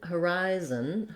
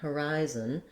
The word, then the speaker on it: horizon: rhythm comes more naturally so trying rise horizon or rising horizon that's how we keep this first syllable very short and then horizon horizon um i could also write it like rye zen with a z on the final syllable because basically we don't